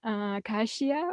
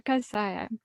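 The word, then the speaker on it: Kashaya: this land where our Hermitage is now it's pronounced Kashia or a casaya casaya and coincidentally today we're celebrating the lunar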